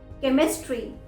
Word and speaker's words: chemistry: chemistry, CHEMISTRY, chemistry।